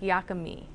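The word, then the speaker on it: yaka mein: I tend to pronounce it phonetically Yakamain, although most people who make and eat the dish regularly say something that sounds more like Yakami.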